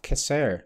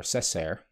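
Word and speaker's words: Cessair: with the coming of kisser to ireland or cesar depending on your pronunciation in the year on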